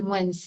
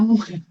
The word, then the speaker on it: moins: Attention avec la prononciation de moins, hein, parce qu'il y a des gens qui disent moins. Non, à moins, à moins que, d'accord, plus, alors, plus quoi?